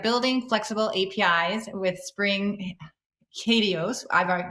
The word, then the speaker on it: HATEOAS: flexible apis with spring katios i've i've just learned how to pronounce that so hadios with greg turnquist and